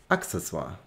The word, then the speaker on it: Accessoire: die französische aussprache aber das wort leitet sich vom lateinischen ab und cs ist dann wird wie ein ko ausgesprochen deswegen heißt es accessoire access accessoire und ich